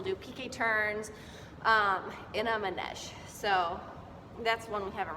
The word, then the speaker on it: manège: This other word, this next word we haven't gone over really yet, but it's pronounced manège, and it means in a circle.